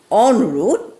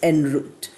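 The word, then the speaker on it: en route: o u t e the you know Indian version is on root and the American one is enroot you can get all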